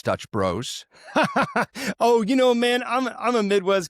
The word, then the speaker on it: Dutch Bros: They don't like when you say Dutch brothers, it's Dutch bros.